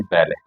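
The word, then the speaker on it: valet: यहाँ पर जो है टी साइलेंट और इसका उच्चारण है बैले।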